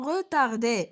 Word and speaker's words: retard: Donc, on ne se prononce pas, ou bien on ne prononce pas le, ou bien la lettre de fin pour chaque nom.